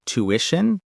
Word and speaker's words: tuition: And tuition. The stress is on the second syllable, too. Tishion. The two sounds like to, not t. Tuition.